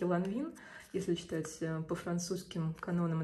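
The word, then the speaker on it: Lanvin: Я, кстати, читаю, да, по-русски ланвин.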